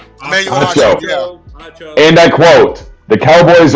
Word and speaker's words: Acho: Sports moron number one of the week, Emmanuel, how do you say his last name? Acho? Acco? Acho.